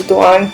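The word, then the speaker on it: Doğan: तो वो कॉल करता है उसके फादर को जो कि है दुआन, जी से है कि पर इसको प्रोनाउंस दुआन करते हैं, दुआन।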